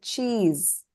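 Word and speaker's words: チーズ: The next word, a borrowed word, cheese. Hi, how do you pronounce this? Cheese. Cheese. Cheese. Okay, cheese. So chi, the first chi is elongated.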